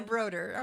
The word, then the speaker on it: Brodeur: give your name that that little french flavor that is okay broder okay that's the americanized version that's the americanized version